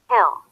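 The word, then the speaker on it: he'll: have hanger hey heel the contraction heel will usually be reduced in a sentence then it can did you notice the contraction here heel I may like ask you for final exam so you have to pay attention to this contraction okay sound like hill hill here her also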